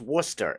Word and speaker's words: Worcester: You go, past Worcester, and yeah, it's pronounced Worcester.